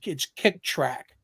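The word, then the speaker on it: Kicktraq: And there's actually a site called Kick Track. and track is spelled TRAQ.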